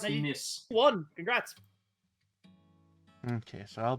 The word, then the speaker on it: Nice: Yeah, still have fond memories of Nikkei.